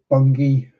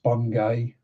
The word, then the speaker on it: Bungay: Um so follow the border all the way down through Bungi which isn't pronounced Bungay Beckles Beckles Bungi.